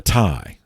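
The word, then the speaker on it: taille: own population of the thai now that's you know the french phonetics that they never pronounced the whole word so uh t-a-i-l-l-e uh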